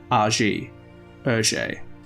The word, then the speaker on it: Hergé: he would rely on the pronunciation of his initials GR in reverse a ER fittingly one of the